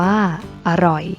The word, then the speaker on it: อร่อย: นํา อักษร ต่ำ เดียว เสียง ของ พยางค์ ที่ สอง จะ เปลี่ยน ไป ตาม อักษร ที่ เป็น ตัว นำ เช่น ตลก อ่าน ว่า ตลก จรวด อ่าน ว่า ว่า จรวด อร่อย อ่าน ว่า อร่อย เช่น เดียว กัน นะ